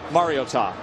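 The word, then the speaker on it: Mariota: It's Mario and then Ta. Put it all together, Marcus Mar-I-o-tah.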